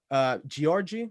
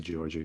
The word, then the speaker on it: Georgi: you made your character Georgie. Is that how you pronounce it? I pronounce it Georgi, but it's fine if you pronounce it Georgie.